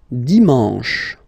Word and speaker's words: dimanche: And the last one, dimanche, dimanche. You get the sh, sh, sh, sh, and then an, en, en, dimanche.